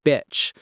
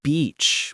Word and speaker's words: beach: Let's say you say, I went to the beach, but you pronounced it like bitch. You'd immediately say, sorry, I mean beach, with the long E sound.